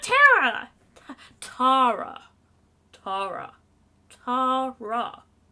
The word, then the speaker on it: Tara: people that pronounce it Tara here in the United States there are there are people that pronounce a Tara however it's typically Tera over here for some